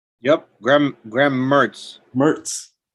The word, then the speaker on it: Mertz: Uh, our buddy, how do you pronounce his name? Mentz? Yep, Graham Mertz. Mertz.